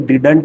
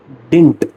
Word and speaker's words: didn't: अब डिडंट को हम डिडंट नहीं प्रोनाउंस करते हैं, हम प्रोनाउंस करते हैं डिंट, डिंट बोलते हैं।